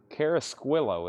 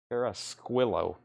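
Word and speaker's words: Carrasquillo: David Carasquillo is what Tanner says. Carasquillo.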